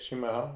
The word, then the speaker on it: chimarrão: Chimarrão?